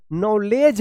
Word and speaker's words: knowledge: नॉलेज पढ़ेंगे, नॉलेज।